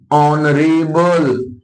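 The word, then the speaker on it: honourable: इसी और ऑनेस्ट, ठीक है, ऑनेस्ट, ऑनरेबल, ऑनरेबल, ठीक है। देखो आवर, ऑनर, air, honest, ऑनरेबल, ये सारे ऐसे शब्द हैं जिनकी शुरुआत में एच क्या है, साइलेंट है।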